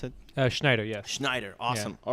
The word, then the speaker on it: Schneider: So, Schneider, is that how you pronounce it? Schneider, yes.